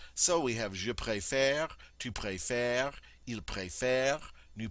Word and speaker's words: préfère: for ease of pronunciation, we simply change the I accent aigu to an I accent grave. That changes the sound from A to E, and that short vowel just seems to work much better in closed syllables.